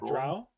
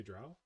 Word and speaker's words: drow: um dungeons and dragons the drew drew draw drow i think drawl i think you say drow yeah it's pronounced you